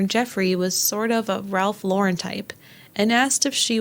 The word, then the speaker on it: Ralph Lauren: And let's say it correctly, Ralph Lauren.